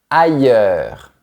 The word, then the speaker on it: ailleurs: Au niveau de la difficulté, c'est un peu comme quand tu prononces le mot ailleurs.